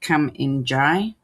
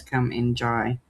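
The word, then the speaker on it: Kumanjayi: So her name was changed to, I think it's pronounced Come In Jai.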